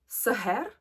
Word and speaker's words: Sahar: Now, let me pronounce it properly. This is Sahar from Lattafa.